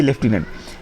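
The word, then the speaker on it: lieutenant: इसको देखने में लगेगा कि लेफ्टिनेंट बोला जा रहा है, लेकिन है ये लेफ्टिनेंट, LEIUTENANT।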